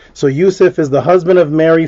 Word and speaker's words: Joseph: But the Hebrew pronunciation of Joseph wouldn't be Joseph because there was no J until on 1565. It would be Yusuf, as in our good brother R.I.P.